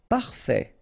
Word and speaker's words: parfait: Parfait. Final T not pronounced. Parfait.